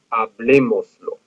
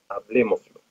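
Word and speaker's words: hablémoslo: Hablemoslo. We added lo to the end of our verb. We went back two syllables, lo and mos, and then the third one was where we placed our accent.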